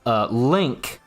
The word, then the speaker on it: LingQ: And I actually found one recently called Link, right? It's spelled Lingq.